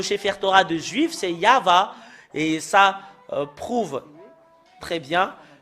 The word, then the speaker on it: Yahvah: qui confirme ce terme que c'est Yahva qui est le vrai. Yahvé n'est pas dans dans l'alphabet juif ancien.